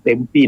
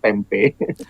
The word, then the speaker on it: Tempe: Dari yang tertua itu di daerah Tempe namanya, bukan orang sering bacanya Tempe.